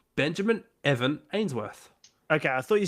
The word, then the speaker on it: Benjamin Evan Ainsworth: Benjamin Evan Ainsworth.